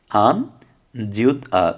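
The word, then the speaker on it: 앉아: তাহলে যেহেতু এই যে জিউটটা এখানে ইয়ংয়ের কাছাকাছি, জিউটটা উপরে যাবে, তাহলে কি হবে, আন জিউত যা, জিউটটা এখানে যে গেলে জিউতের উচ্চারণ হবে জ, তাহলে আনজা।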